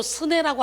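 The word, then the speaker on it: סנה: 떨기나무는 히브리어로 스네라고 하는데요, 시내산과 비슷한 발음이죠.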